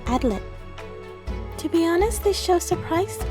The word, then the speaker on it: Adlet: I mostly watch the subs, and it's very Adletto. It's very heavy on that last t.